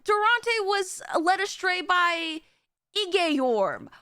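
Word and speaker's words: Igeyorhm: Essentially, oh yeah, and Durante was led astray by Igeyorm, which I found out now that's how you pronounce her name, which is crazy to me. Igeyorm?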